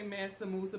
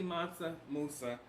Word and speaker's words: Mansa Musa: whole nother place now some of you may say Mansa Musa but it's really monster Musa depends on how you